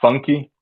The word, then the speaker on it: Funk: classify it as but it's called funky um it's spelled just Funk um it's nothing like